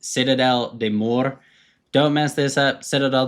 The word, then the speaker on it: Citadelle des Morts: you can see it for all those who don't speak French it's pronounced Citadel de Moore don't mess this up